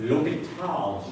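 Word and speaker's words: L'Hôpital: and it's known as, my best French accent, Lopital's rule. And since all over the internet and math books, they spell it two different ways, I guess there's a silent S here.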